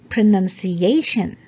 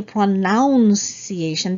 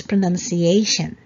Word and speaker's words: pronunciation: lot of people say pronunciation because of the verb pronouns right but as you can see with the spelling it's n-u-n so it's not noun so it's pronunciation got it all right